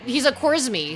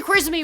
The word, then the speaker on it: Khwarizmi: But of course, like the k is kind of like hard for them to pronounce, so they're kind of more of a g sound.